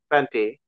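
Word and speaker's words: twenty: There's no T at the end, 20. 20. 20. Yeah, so we'll say it like the second one, 20. 20. Yeah, 20. very good. Very good. So we have what's called the flap T. So it sounds almost more like a D instead of two T's.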